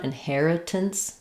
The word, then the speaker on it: inheritance: And then the tense is going to be, again, almost no vowel here. So if I had to put any vowel in there, I'd put an I sound, inheritance, tense, or inheritance, tense, a schwa. You'll probably see it in the dictionary with the schwa. Same in hair, inheritance, tense, but just use a very reduced vowel there at the end.